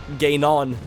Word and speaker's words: Ganon: Ganon. How is that pronunciation for you pronunciation heads?